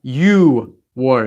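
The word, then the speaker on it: 유월: warned and so on there are some exceptions six for June is you war it's not u k-- and ten is she war it's not cheap these are the only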